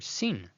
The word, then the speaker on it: sin: But when the dot at the top is on the left side, it is actually referred to as the word sin, pronounced as s, as in the word sad.